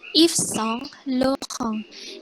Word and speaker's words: Yves Saint Laurent: YVS itu dibacanya Yves. Terus Saint itu dibaca Song. Kayak tadi ya, Song. Terus Lauren dibacanya Laurent. A sama U itu dibaca U. Jadinya Laurent. Ada N di belakang. Ada N, pokoknya setiap ada N itu pasti eng.